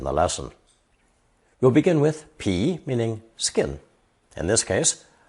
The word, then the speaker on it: 皮: This character is pronounced second tone, pi, pi, and means an animal's skin, fur, hide, and leather, or a plant's rind, bark, or peel.